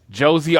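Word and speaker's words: José: kind of existed until Josie Aldo's music hits. Yeah, Jose Aldo. Dude. No, and just to declare, it's Josie. I don't know why, but they pronounced the J in Brazil, so it's Josie Aldo.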